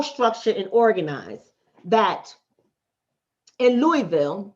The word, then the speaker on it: Louisville: and organized that in louisville that's how you say it but some people might read it on paper and they would say louisville but louisville they came in contact